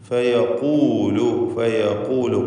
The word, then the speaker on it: فيقول: ഫയഖൂലു ഖാഫിന് നിസ്ബിയായ തഫ്ഖീം എടുക്കണം. ഇസ്തിഅലാൻ്റെ അക്ഷരമാണ് എന്നതുകൊണ്ട്. ഐന ശുറകാഇ.